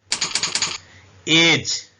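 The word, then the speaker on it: judge: इसको वज बोलते हैं साइलेंट लेटर ई जज अब इसको ई नहीं पढ़ेंगे जज पढ़ेंगे उर्दू में ऐसे लिखेंगे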